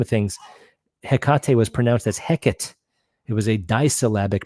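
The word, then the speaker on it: Hecate: the grand scheme of things hekate was as heckit it was a dbic pronunciation not three they removed the three for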